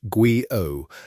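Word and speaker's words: guyot: The name Guillot, pronounced Guo, comes from Arnold Henry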